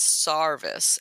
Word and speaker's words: sarvis: and I've also heard another pronunciation of Serviceberry as Sarvis s-a-r and I just think that is Appalachian accent I would suspect you're correct on that one and so you were